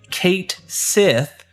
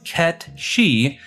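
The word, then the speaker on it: Cait Sith: This name is often confused as Kate Sith due to how it's spelled. However, its true pronunciation is Ketchi, as the name is Scottish Gaelic, which means fairy cat.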